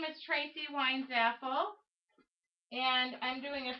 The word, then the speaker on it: Weinzapfel: The P is silent. It's Weinzapfel.